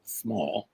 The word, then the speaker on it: Small: doctor uhhuh and then J M S small s m a l l that's two s's